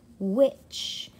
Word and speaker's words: which: sí y se fue which en estas dos palabras se pronuncian igual pero sus significados son distintos recordemos que la h cuando viene después de la w generalmente no hace sonido este which es como cual with